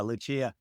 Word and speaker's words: Lucia: Her name is Lucia Fasano. Lucia. Right. So in Spanish, it would be Lucia.